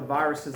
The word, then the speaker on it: virus: So virus is going to be pronounced that S. It's one of those exceptions. You know, sometimes we pronounce that S, even though most of the time we don't. But on virus, we're going to pronounce the S.